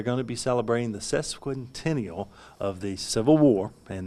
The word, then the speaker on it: sesquicentennial: during the cesspool continual am i pronouncing that right you say no so correct me sesquicentennial sesquicentennial that is the 150th